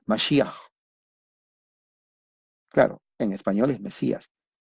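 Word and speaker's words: מָשִׁיחַ: Y se llama Mesías, en realidad es Mashiach. Y el hebreo generalmente al final se empieza con la parece como que le están molestando, pero así pronuncia, Mashiach.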